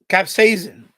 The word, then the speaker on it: capsaicin: Capsaicin. That's how you pronounce it. Capsaicin.